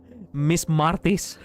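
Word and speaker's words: Μάρτης: Hello, Miss Martis. That's how we say March in Greek.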